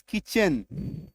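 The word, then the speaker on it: kitchen: तालव्यस machine A आई टी सी एच किचन बीच में है।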